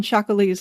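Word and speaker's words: chacolí: But there was also another theory on Shakali's lexical provenence.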